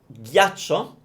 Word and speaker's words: ghiaccio: But if you hear me say ghiaccio, ghiaccio, it's a strange word. It sounds ugly to me as well. So it's ghi, imagine like Indian butter, ghi, a, cho, ghiaccio, ghiaccio.